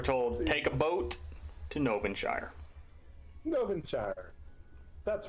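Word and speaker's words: Gnovinshire: spell it how about i know what's called novenshire because of all the gnomes there it's g-n-o-v-i-n-s-h-i-r-e um that's what i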